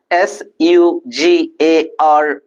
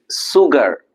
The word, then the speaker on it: sugar: all of us know s u g a r we don't pronounce as sugar it's sugar so the sound is sh and the last set